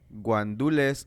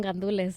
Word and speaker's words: gandules: Arroz con guandules o mofongo? Arroz con gandules, 100%. Gandules, that's how you spell it. That's how you say it.